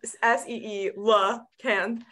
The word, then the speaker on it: coelacanth: you say that word there's a pronouncer in the book there's a point in the book where in a parenthetical she goes coelacan like s-e-e La can and when I was